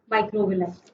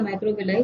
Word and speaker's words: microvilli: आउटफोल्ड में आपका पहला है माइक्रोविलाई, नाम सबने सुना होगा, माइक्रोविली या माइक्रोविलाई, what ever you can pronounce.